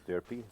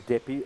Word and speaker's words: Deppy: We actually made a joke about it the other day because I kept on pronouncing him as Derpy. So I said I'm going to continue calling him Derpy. Even though his name is actually Deppy, or one of the